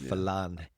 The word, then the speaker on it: Falange: Has a G in there, but I believe it's pronounced Falange.